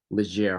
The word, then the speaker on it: Leger: he has worked as a battlefield guide for legere holidays is that is that how you pronounce it sir it's these ledger holidays in the uk but but it looks